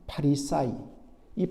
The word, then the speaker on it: 파리사이: 팔레스타인의였던 아라에서 나온 말로서 이것의 정확한 발음은 파리사이이 파리사이 말은 바로 나누다 분리시키는